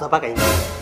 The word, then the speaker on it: sofa: I will sleep on 'sopha' 'Sopha'? You should first learn how to pronounce Sofa Such an uneducated girl I married You can't even say Sofa properly As if you are very educated Uneducated girl?